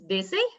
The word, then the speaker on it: Vasey: so excited this week to have heather louise busy is that how i pronounce it yes yes is from winnipeg and